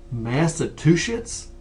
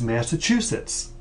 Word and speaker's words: Massachusetts: things in the pronunciation massetts oh my goodness I hear that all the time Boston Massachusetts folks there is no T after the ma in Massachusetts think of a choo choo train it's Massachusetts the t is at